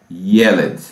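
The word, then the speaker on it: ילד: Então é Yeled, Yeled. A sílaba tônica é a primeira, Yeled.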